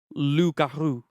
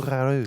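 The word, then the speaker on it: loup-garou: Okay, I'm going to quickly say the reason it's called Rougarou, it's actually from the French who went over to Louisiana or down to Louisiana from Canada. It's actually Lougarou.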